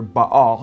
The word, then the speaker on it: Baal: and then baal or he says bell b-e-l or ba all he spells it b-a-a-l how the bible spells baal or baal it's pronounced in hebrew uh which is the